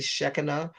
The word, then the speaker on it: Shekinah: she'll be well technically when you pronounce it more in the aramaic fashion it would be shekinah so i guess i